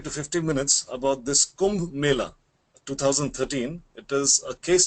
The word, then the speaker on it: Kumbh Mela: And I don't know how to pronounce Kumbla Mela, am I right? Yeah, it's Kumbh Mela.